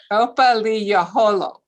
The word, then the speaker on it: Opothleyahola: Opothle Opothleyahola.